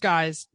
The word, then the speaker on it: GYX: GYX pronounced guys _customs.